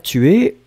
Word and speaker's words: tue: Et donc, le verbe tuer, on est obligé de le conjuguer. On va conjuguer le verbe tuer à la troisième personne. Tu. Donc on écrit T-U-E, mais finalement on prononce tu.